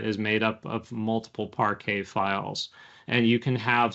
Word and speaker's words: Parquet: known as Parquet files, spelled Parquet, but pronounced Parquet. It's Parquet. Some people call it Parquet.